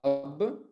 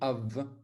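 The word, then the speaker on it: אב: dans la lettre bête, on va la prononcer V. Et c'est pour ça qu'on ne dit pas Ab, mais on dit Av.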